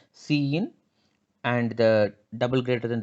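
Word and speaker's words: cin: of this input operator so it is read as c in and the double greater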